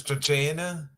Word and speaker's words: Cena: Yeah, because Cena's actually admitted that when Santino says Chachena, that is the actual pronunciation of his legitimate name.